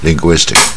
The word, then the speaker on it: linguistic: 弄到七不好念嘛， linguistic 啊不好念啊， linguistic 它也是跟前面啊发